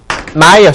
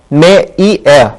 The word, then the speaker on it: Meier: Here 마이어 씨를 한번 읽어봅시다. 이거 한번 읽어보시죠. 이거 메이에 아닙니다. 독일어 항상 이거 에이 발음이 아니라 I로 발음단다는 거 발음나니까 주의하시라고 제가 1과 때 강조했던 거 기억하셔야만 합니다.